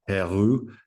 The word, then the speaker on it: Heroux: One thing to call out, if you go in the chat and have a look at Jake Heroux, he pronounces it Hero, you'll see that his company, Haggerty Insurance, biggest insurer in the world for special types of vehicles.